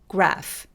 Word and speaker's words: graph: 그래서 요럴 때도 마찬가지로 graph, graph 이렇게 발음해 주세요.